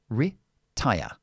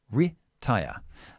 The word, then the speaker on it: retire: E is always I or the short I, which is i. So it's retire, retire.